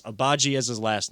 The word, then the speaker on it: Agbaji: I will make sure I get the pronunciation right. I know it's Agbaji as his last name.